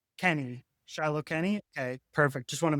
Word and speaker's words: Shiloh Kenny: That's the proper pronunciation? Kenny. Shiloh Kenny?